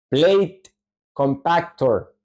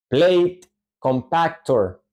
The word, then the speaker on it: compactor: pues escribe de toda esta manera y se pronuncia Plate compactor Plate compactor Plate compactor vean acá que la acentuación en